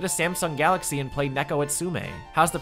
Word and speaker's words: Neko Atsume: you could get a Samsung Galaxy and play Neko Atsume? How's the pronunciation? Neko Atsume? Neko Atsumi.